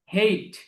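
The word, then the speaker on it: hate: হেট অর্থ ঘৃণা করা, হেট অর্থ ঘৃণা করা, খেয়াল করুন, উচ্চারণটা খেয়াল করতে হবে। হেইট, হেইট, লোক হেইট।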